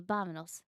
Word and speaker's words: vámonos: Oh, is it pronounced with a B? Well, it's like a soft V. Vámonos.